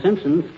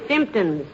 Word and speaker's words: symptoms: Got all the Simpsons. The word is symptoms, dearie, with the emphasis on the first syllable.